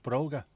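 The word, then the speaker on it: bróga: Tom Tom the Irish for shoes is Broger pronounced Broger so that's where brogues come from brogues before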